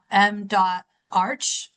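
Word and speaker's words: M.Arch: It could be also written M D M. Arch, A R C, but we all pronounce it M ARC in case you're confused across the various acronyms.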